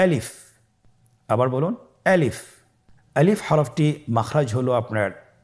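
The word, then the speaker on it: ألف: তাহলে এটাকে কি বলে আলিফ আমাদেরকে বলতে হবে বলুন আলিফ আলিফে কিন্তু কোন টান নেই আপনারা বুঝতে পারতেছেন আমি যখন আলিফ বলছি এর মধ্যে কোন টান হবে না। আলিফ আবার বলুন আলিফ।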